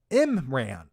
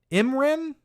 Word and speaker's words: Imran: roll with it uh it's pronounced like this imran imran oh so i'm saying yeah bar but it but it should be imran imran how would i ever